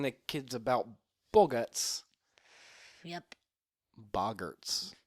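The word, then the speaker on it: boggart: Lupin he's teaching the kids about Bots yep bogerts bogerts okay that's how it's pronounced oh yes BS bogert bogert okay no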